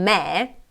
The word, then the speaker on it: me: perché hanno l'accento quindi quando pronunciamo mi vedete non ha molta forza questa parola se invece di con me guardate innanzitutto come apro di più la bocca e come si sente di più l'accento in questo caso ok quindi